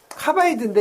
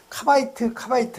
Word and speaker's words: 카바이드: 이걸 카바이드라고도 해요. 카바이드인데 이제 일본 사람들이 드 발음을 잘 못하니까 그냥 카바이트 했죠.